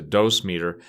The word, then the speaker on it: dosimeter: nuclear materials usually have a dosimeter some people pronounce a dose meter it which is basically